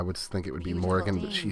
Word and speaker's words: Morrigan: do it for our first look at the Morrigan, guys. She's really interesting. I don't know why they pronounce it that way. I would think it would be Morrigan, but she says the Morrigan, and so does all her lore.